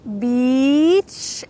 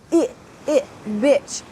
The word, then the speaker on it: beach: Here we have a long E, beach, and with the bad word, we have a short I, bitch. But I would like to help you practice the good word. So here, let's say this sentence together. I love to see the sun on the beach. Beach. Notice when I say E, my lips are wide, E, and my teeth are almost together. Beach, beach.